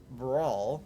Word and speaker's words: Bral: Welcome to the Rock of Brawl. I believe that is how it's pronounced, and that is how I'm going to pronounce it.